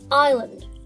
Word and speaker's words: island: see you next time this word is pronounced island we'd know if but why there is an S the answer is very